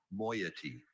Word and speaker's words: moiety: Moiety. Are there any alternate pronunciations? I see only moiety.